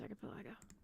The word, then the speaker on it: archipelago: I like Juice Archipelago. Like archipelago. Yeah, that it's pronounced archipelago.